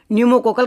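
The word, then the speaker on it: pneumococcal: बात कर रहा हूं न्यूमो कोकल कंटेंजी की बात कर रहा हूं अब आप बोलोगे न्यू का पी कैसे तो पी से स्टार्ट होती है इस पहले इसकी स्पेलिंग तो P silent न्यूमो कोकल contingent vaccine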